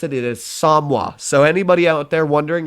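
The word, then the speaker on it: Somua: Now this is how you pronounce it. It is Samwa. So anybody out there wondering if they pronounce it Samoa or anything else like that, Samua, it is definitely pronounced Samwa, because I asked a couple of my French friends.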